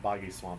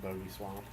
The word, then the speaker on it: Boggy Swamp: have some, oh yeah, Boggy Swamp, by the way. I remember as a kid I used to pronounce it Bogey Swamp.